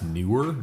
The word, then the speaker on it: Neuer: Yeah, it's Neuer. Nauer.